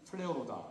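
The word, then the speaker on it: πληρόω: 헬라어의 충만은 플레오로다 이렇게 번역을 이렇게 발음을 하는데요.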